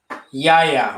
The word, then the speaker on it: Yahya: Yahya? Yahya, all right.